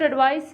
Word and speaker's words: advice: When you are talking about एडवाइस एज a noun तो उसको बोलेंगे एडवाइस, और वर्ब होगा तो एडवाइस.